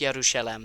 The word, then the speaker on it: Jerusalem: in it's quick aside it's yerusalem not Jerusalem I mean you can say Jerusalem I'll probably say Jerusalem but I like to use the the closer to closer to home pronunciation and maybe I'm butchering